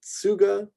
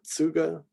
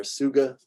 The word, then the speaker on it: Tsuga: Trifolium, Tsuga, so kind of a Tsuga. Roll them together. Some people might just go with the S sound there. Suga.